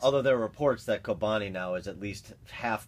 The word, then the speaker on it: Kobani: Kobani. Kobani. They didn't take over Kobani last week. Baghdad. That's how you pronounce it.